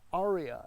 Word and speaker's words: Ariya: This is the 2023 Nissan Ariya, and that's accent on the ah.